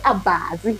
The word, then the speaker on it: Abaazi: And then the baba chukumo, Abaazi, and Anyata. Yeah, Abaazi. Abaazi. ABAZI, almost spell it to do.